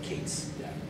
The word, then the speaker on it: K8s: K8S has the added benefit that you can actually pronounce it, so like Kates.